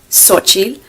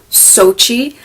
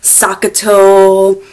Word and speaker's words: Xochitl: Now, how do you say it in English? I usually do Sochi. How do I spell it out phonetically? I'll put that down as well because, it's just faster, easier, just go Sochi instead of like, what? Huh? I've gotten so many different pronunciations. Sakato, Chochi, Montezuma.